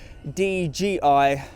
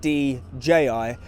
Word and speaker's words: DJI: say to you firstly sorry that I keep pronouncing your name DGI and not DJI and secondly thank you